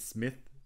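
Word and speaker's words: Psmith: Smith the guy's called Smith but there's a silent p in front of it and so is that Smith he goes Smith actually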